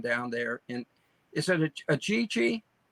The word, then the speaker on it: Ajijic: Is it Ajijic? Ajijic. Ajijic. AJ. Ajijic. No wonder I can't pronounce it.